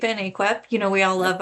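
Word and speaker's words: AAQEP: Um, it's pronounced cape and aquip.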